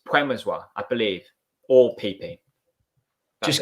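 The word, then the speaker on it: Przemysław: good friend who's polish and she says it's puemozwa so that you you don't pronounce the well it's puemozwa i believe all pp just call it um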